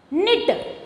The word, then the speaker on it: knit: Knit. Okay, knit. So, which is the silent here? K.